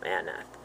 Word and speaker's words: Anath: hero, Shamgar, son of Anath. This is probably the goddess Anat, with th sound at the end. It looks like the same spelling.